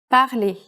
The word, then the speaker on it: parlez: It becomes this, but it's pronounced the same way, parler. Est-ce que vous parlez anglais?